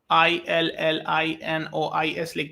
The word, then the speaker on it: Illinois: this is India world's top most engineering coloo i l l i n o i s but pronounce as Illinois so you will find Illinois